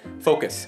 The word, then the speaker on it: focus: yeah, focus. I'm trying to focus, focus, focus. focus. 아하, 그 cos은 약간 완전 약간 약하게 해야 돼.